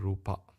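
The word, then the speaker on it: rūpa: to say Nama and Rupa Nama and Rupa in singal's pronunciation we call n rup in English International P we call it Nama and Rupa okay because the a is not closed it's open uh so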